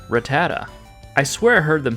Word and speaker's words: Rattata: But if you're like me and you've been saying it like Rattata, well, you're wrong. It's actually Rattata.